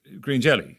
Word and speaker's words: Green Jellÿ: UK when you were Green Jellÿ, we pronounced it pretty much as it was spelled, post-lawsuit, or threat of lawsuit.